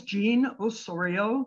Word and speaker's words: Jean Ossorio: My name is Jean Osorio, that's spelled J-E-A-N, last name O-S-S-O-R-I-O.